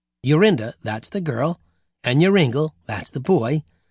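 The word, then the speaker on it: Joringel: The little boy's name was Yuringel. You pronounce that Yoringle.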